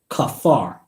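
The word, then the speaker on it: כפר: is the Hebrew word H 37:22 and is pronounced Kafar Kafar means cleanse dissing all forgive be merciful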